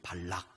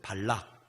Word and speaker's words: 발락: 여러분 혼돈하시기 쉬운데 모압 왕의 이름은 발락이에요. 발락. 한번 따라해보세요. 발락. 발락은 모압 왕이고 발람은 선지자예요.